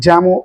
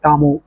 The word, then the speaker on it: Jamo: இப்போ ஸ்பெஷல் அப்படின்னு நம்ம பார்க்கும்போது உங்களுக்கு இதுக்கு மேட்சிங்காக நம்ம வந்து யாமோ, இது ஜாமோ அப்படின்னு சொல்லுவாங்க. அண்ட் in terms of audio file கேட்டகரியில் இருக்கிறவங்க எப்படி சொல்லுவாங்க, இது யாமோ அப்படின்னு நம்ம ப்ரொனவுன்ஸ் பண்ணுவாங்க.